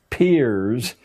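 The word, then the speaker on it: Peirce: has produced he was it's pronounced peers but it's spelled as if it were pierce charles s pierce a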